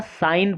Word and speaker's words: sign: SIGN, यहाँ साइन पढ़ेंगे, इसका अर्थ है, तो यहाँ जी साइलेंट है।